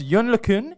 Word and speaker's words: Yann LeCun: In fact, it is pronounced Yann LeCun.